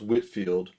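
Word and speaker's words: Whitefield: Actually, it's pronounced Whitfield.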